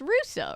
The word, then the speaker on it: Russo: last name as Russo it's Russo right like like uh like Wizards a Waverly Place yes I have it